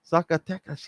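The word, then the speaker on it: Zacatecas: Zakatas.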